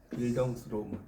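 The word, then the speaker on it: Bildungsroman: 빌 이걸 빌덩스라고 읽어요. 빌덩스 로몬.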